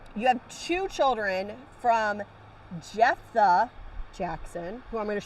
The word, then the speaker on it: Jephthah: a and and i said how do you pronounce that she goes jephthah biblically speaking though it would be spelled j